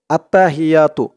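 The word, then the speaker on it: التحيات: খেয়াল করবেন আত্তা হাইয়া এখানে হ দেওয়া আছে কিন্তু এখানে উচ্চারণ করতে হবে এরকম উচ্চারণ করতে হবে কারণ আরবিতে এখানে বড় হা এজন্য উচ্চারণ করতে হবে আত্তাহিয়া এক আলিফ টান দিতে হবে আত্তাহিয়াতু লিল্লাহি আমি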